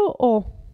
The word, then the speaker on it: ho: Io ho. Vedete che la H non si pronuncia.